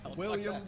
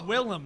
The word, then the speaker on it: Willem: I'm not editing anything William Dafoe its Willem not William Willem what was the movie